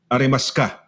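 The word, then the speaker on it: ありますか: Kunyari, arimasuka, arimaska. Yeah, so if you read it the Tagalog way, it would be written arimasuka, but when they read it, it would be arimaska.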